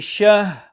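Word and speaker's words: شهر: So the correct pronunciation and recitation is min alfi shahr, where shah and the ra is pronounced separately.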